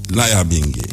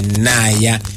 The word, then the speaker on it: Nyabingi: But because our brothers and sisters from the diaspora, English say Naya. When there's N and Y, you don't pronounce it, you pronounce Ni. Ni.